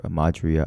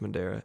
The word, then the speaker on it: Madeira: We could put it on for your Madria Outdoors. Oh, the Madeira Outdoors. I'm sorry, Madria. I think it's pronounced Madeira. Madeira? Madera, right?